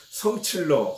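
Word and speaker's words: 生气了: 그 중국식으로는 성칠러 혹은 성칠라 이렇게 발음하는데 성질나 이랬을 때 그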